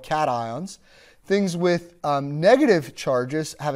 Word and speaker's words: cations: They're cations and anions. They're not cations and anions, even though it sort of looks that way pronunciation-wise.